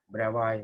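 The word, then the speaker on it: Bravais: lattice types are called bravo lattices we are here we are asked that s is silent bravo lattices am i making sense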